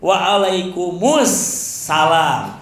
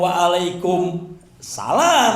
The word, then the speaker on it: Wa'alaikumussalam: Harus diucapkan * Wa’alaikum mus salam*, jangan diucapkan * Wa’alaikum salam* jika huruf 'al' dihilangkan; *Wa'alaikumussalam warahmatullahi wabarakatuh*.